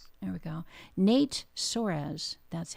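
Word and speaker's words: Nate Soares: Nate Sorz. There we go. It worked. Okay. So, uh Nate Sorz. There we go. Nate Sorz.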